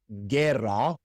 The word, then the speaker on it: guerra: When we have a hard G before an E or an I, then we put a silent U between them to conserve that hard G sound. Such as in guerra and guia.